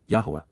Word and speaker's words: Yahowah: face to face, approaching the appearance, of Yahuwah, Yahuwah, the proper pronunciation of the name of Eloah, God as